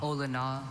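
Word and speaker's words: olona: Ola. Are there any alternate pronunciations? Just the one. Ola. All right. Repeat the word again. Ola. Ola.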